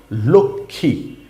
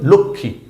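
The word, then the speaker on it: লক্ষ্মী: খিয় ম ফলা তার সাথে দীর্ঘীকার শব্দটা হচ্ছে লক্ষী এখানে ম আছে কিন্তু ম এর কোন উচ্চারণ হয় নাই বানান করার সময় বলতে হবে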